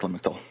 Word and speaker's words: Lamictal: the pronunciation, that's also referred to commonly as Lamictal. It is correct, Lamictal.